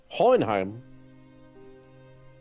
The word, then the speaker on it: Hohenheim: Hohenheim. That's actually Yes. really good pronunciation.